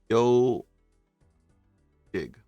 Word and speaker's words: Ezhik: I think Ziki, but it is pronounced Yo Jig.